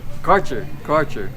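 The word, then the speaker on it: Kärcher: How do you pronounce this? Karcher.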